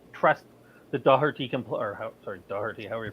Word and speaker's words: Doherty: Doherty, however you pronounce his name, can play at that level. No, you said it perfectly. You said it perfectly, by the way, Doherty.